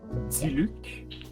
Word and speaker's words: Diluc: Mister um call me dilic the red head pronounced it in French see Luke oh that's even worse